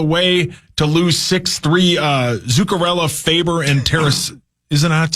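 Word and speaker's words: Zuccarello: Uh, Zukarella, Faber, and Terra. Isn't that how you say it? Zukarella nailed it.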